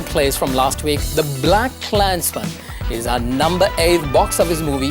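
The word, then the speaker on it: BlacKkKlansman: movies title is simply black clansmen meaning that the extra K is silent anyhow how has a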